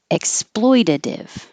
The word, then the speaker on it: exploitative: Exploitative. Those T's will change to D's. Exploitative is correct, but very correct. Exploitative is more everyday, what you'll hear.